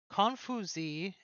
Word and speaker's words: Confucius: It is Confuzi, I believe is how that is pronounced in Chinese.